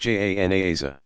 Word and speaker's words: janaza: At the cemetery, mourners gather around the grave and offer special burial prayers called janaza, pronounced janaza.